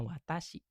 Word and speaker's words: 私: Berarti kalau sendiri dibacanya kunyuminya watasihi.